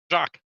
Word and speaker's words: Jacques: Easiest way I can explain it: think of the ocean explorer Cousteau, Jacques. It's Jacques. It's that simple.